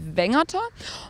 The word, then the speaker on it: Wengerter: das besser zu verstehen, Weingärtner ist der Name rund um Brackenheim und traditionell ausgesprochen bedeutet es Wengerter.